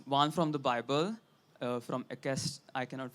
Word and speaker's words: Ecclesiastes: written two epigraphs, one from the Bible from Ekest, I cannot pronounce it properly. Ecclesiastes.